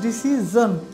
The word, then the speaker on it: decision: কিন্তু একেবারে সঠিক অ্যাকুরেট উচ্চারণটা হবে ডিসিজন, ডিসিজন, ডিসিজন। I've taken my decision. And what is yours? Haven't you taken your decision? আপনি কি আপনার সিদ্ধান্ত নেননি? প্রিয় শিক্ষার্থীরা, তাহলে এই উচ্চারণটা হচ্ছে ডিসিজন, S-I-O-N, জন।